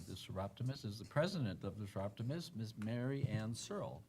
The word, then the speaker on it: Searle: Mary Ann Searle. Is that correct? That is correct. It's not a name a lot of people pronounce correctly first, so congratulations on that.